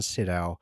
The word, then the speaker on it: Sydow: I'm making Bob, and I was thinking, because Max von Sydow, I keep pronouncing that wrong. Max von Sydow, and Christopher Plummer.